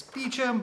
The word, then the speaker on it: Beauchamp: Because I know with my name, which is Beauchamp, it's Beecham, Beauchamp, Beauchamp.